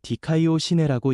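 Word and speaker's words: δικαιοσύνη: 라는 말은 헬라어로 디카이오 시네라고 읽습니다.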